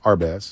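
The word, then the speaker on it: Hermès: know it's is it Hermes it's called It's pronounced our best okay I didn't okay okay I'm trying to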